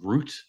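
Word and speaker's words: Rutte: Uh, how do you pronounce his last name? Mark Rut.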